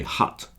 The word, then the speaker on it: hut: touching your bottom teeth if you want to say Hut with a u you relax your face a little bit more and your tongue moves back a tiny amount and you say Hut hat Hut there's also